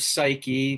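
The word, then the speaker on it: ψυχή: Our word psyche, pronounced psyche in Greek, means both soul and butterfly.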